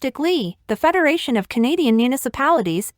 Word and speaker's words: ICLEI: Your consumption data is critical to adopting voluntary non-government organizations programs set out by the International Council on Local Environmental Initiatives, pronounced ICLEI, the Federation of Canadian Municipalities, FCM, and their joint partnership program named Partners for Climate Protection Program, or PCPP for short.